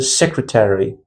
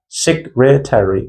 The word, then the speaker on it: secretary: The next we have a secretary. Secretary, secretary. So this word is four syllables.